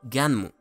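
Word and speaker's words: Gunnm: También tenemos que el manga llevaba por nombre original Hyper Future Vision Gum, pronunciado Ganmu, o literalmente Gun, arma en inglés, por lo que Gun es lo mismo que Alita Battle Angel.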